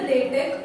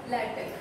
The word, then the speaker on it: LaTeX: Now this is mainly used for publishing books, reports, scientific documents, and this is pronounced as either LaTeX or LaTeX.